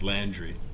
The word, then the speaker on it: Landry: far is endless probably the correct way to pronounce my last name is landry the one bad habit